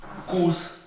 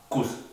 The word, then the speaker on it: Kuss: Por ejemplo, si yo escribo la palabra Spaß, que significa diversión, se pronuncia Spaß. Wir haben Spaß. Nosotros nos estamos divirtiendo, tenemos diversión. En cambio, si escribo Kuss, que significa beso, la U es corta, no es larga como la A de Spaß.